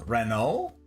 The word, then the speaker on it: Renault: damn Southerner fair enough Renault say Renault okay I got you yeah that's that's what I was thinking was is the French frence pronunciation we should ask ra